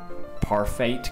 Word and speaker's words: Parfait: Parfait Girls. It's pronounced parfait!